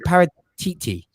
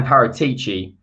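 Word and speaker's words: Paratici: pronounce uh is it para titi everyone keeps saying paratichi but i heard from an italian journalist who wrote me a new one it's paratc that's how it's pronounced tc yeah i'm the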